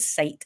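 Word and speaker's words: scite: on my computer and it's called site it's spelled s-c-i-t-e um and I think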